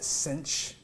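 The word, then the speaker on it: sinh: and the hyperbolic sign is the Cinch kind of rhyming with pinch so cinch of X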